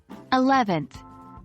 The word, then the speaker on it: eleventh: a look at them eleventh the stress falls on the second syllable e in 11th 12th the stress falls on the first syllable 12.